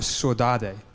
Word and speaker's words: saudade: were a bunch of Brazilians there talking about saudade, or saudade. I don't know how to pronounce it in Portuguese.